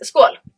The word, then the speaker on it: skål: So cheers is skål. Skål. Skål. Skål. Skål. And thank you is tack så mycket. Tack så mycket. Tack så mycket. Tack så mycket. Yes. Skål.